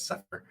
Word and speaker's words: CEFR: And so we created that, and there's a tool, we lovingly called it Cepher, the CEFR, as some people pronounce it as Cepher.